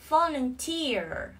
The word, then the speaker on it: volunteer: Volunteer, volunteer. Trọng âm rơi vào âm tiết thứ ba.